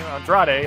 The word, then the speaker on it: Andrade: He's going to team up with his new son-in-law, Andre El Idolo, excuse me for that pronunciation, Andrade, I should say.